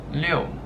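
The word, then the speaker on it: 六: It's pronounced liu, liu.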